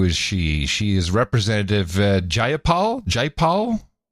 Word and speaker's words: Jayapal: She is Representative Jayapal. How do you spell it? PAYPAL. PayPal. Miss PayPal. Jayapal. JAYAPAL. But you look at the word, you just want to say PayPal every time you see it.